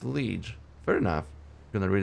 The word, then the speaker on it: liege: Liege. Okay, it's liege.